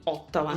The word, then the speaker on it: Ottawa: posto, la città di Ottawa. La O si pronuncia così, la T così, la A così, eccetera eccetera.